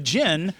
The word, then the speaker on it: djinn: I used to say djinn all the time, and finally someone was like, the D's silent. And I was like, oh, I'm an idiot. So, the jinn also exist in that same place.